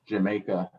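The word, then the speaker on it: D'yer Mak'er: think the song is actually pronounced Jamaica.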